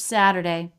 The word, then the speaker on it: Saturday: Keep Saturday Saturday s this tea is a flap tea also flap tea is so common and it's part of this smoothness in American English it's different than Saturday sat sat which has that crisp stop and release by turning that into a flap tea we get a smoother sound and we make a tea of flap tea between two vowels sat sat Saturday Saturday